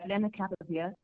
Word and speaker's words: lenacapavir: Lenacapavir, or what was the correct pronunciation? Yes, that's not bad. Lenacapavir.